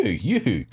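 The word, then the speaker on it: UHU: It's a Yoo-hoo stick. It's spelled U-H-U. Yoo-hoo.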